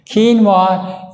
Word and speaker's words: quinoa: acids and that cereal grain is called quinoa it's spelled q i n o a quinoa is a complete protein so the two Foods